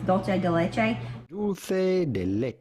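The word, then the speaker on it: dulce de leche: redneck not really but when it comes to pronouncing things anyways it's dolce de leche that's not what they call it in the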